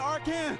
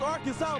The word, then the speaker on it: Arkansas: Ain't Arkan. It's Arkansas, baby.